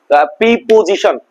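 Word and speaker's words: preposition: প্রিপজিশন, প্রিপজিশন জিনিসটা বুঝতে হবে। প্রিপজিশন এটা উচ্চারণ হচ্ছে প্রেপজিশন, প্রেপজিশন।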